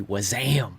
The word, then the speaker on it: WASM: was asking about wasm i'm pretty sure that's the print correct way to pronounce the web assembly acronym i think it should be was am what that's um okay